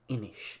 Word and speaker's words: Inis: As an aside, it's also Galway and Inish if you're talking about the board game, which is Irish for island.